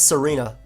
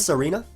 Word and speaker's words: Tsareena: you say this I I think it's Serena I I think the t is I could be wrong though all right Serena has the